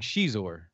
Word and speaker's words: Xizor: I wouldn't mind seeing Xizor. That would be cool. Is that how you pronounce Zixor? Yeah, Xizor. Yeah, Xizor. Okay.